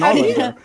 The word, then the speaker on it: Ålander: Yeah, it's the circle kind of like hints at it being actually an O. That's the Swedish O. So yeah, okay. Because the Swedes pronounce the O in a weird way.